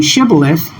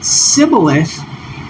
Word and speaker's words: shibboleth: what you notice is the first letter here is the shun, the letter that has the SH sound. And then when you compare it with the sibboleth, you notice that it